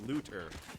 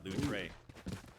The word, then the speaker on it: Looter: letting us know that the cipher is known as looter and not lou tray so spell it correctly